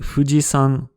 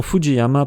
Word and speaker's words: Fujisan: On a vu que montagne se dit yama, mais le mont Fuji s'appelle en japonais Fujisan. Le nom Fujiyama, parfois utilisé en français, vient d'une lecture incorrecte du kanji pour montagne.